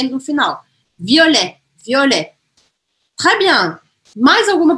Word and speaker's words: violet: O O é aberto ou fechado? Violet, violet, violet, fechado. Violet, não é violet, é violet. Mas também não é violet, né? Não preciso forçar, porque a sílaba forte dessa palavra está no final, e não no O.